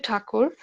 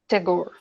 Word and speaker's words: Thakur: family name so they referred to him as mr thakur and unable to articulate the unfamiliar name pronounced it as tagore the family prospered its